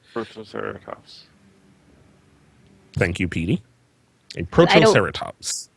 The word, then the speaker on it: Protoceratops: pronounced? Protoceratops.